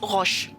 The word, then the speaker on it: roche: If you're talking about rock, the rock itself is roche.